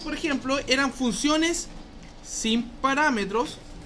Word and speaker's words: parámetro: ¿Cómo se lee con un acento en la R, viejo? Mira, viejo. Parámetro.